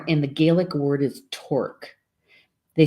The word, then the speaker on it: torc: So boar in the Gaelic word is torc. They spell it Torc, but it's pronounced torc, according to the pronunciation guide anyway.